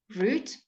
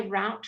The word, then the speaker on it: root: is not pronounced okay root now the Americans will say route for this and yeah